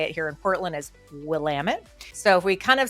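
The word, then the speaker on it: Willamette: it's funny I had somebody yesterday say it's pronounced will lamit not willamet well maybe it was at one point but this is how we say it here in Portland is Willam it so if we kind of scroll in here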